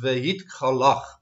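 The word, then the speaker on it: והתגלח: The Hebrew word for shave himself is vehit galach. Vehit galach. It's spelled Vav Hey Gimel Lamed Chet, and the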